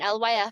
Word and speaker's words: LYF: And LYF is supposed to be pronounced as like live life, whatever you want it to be.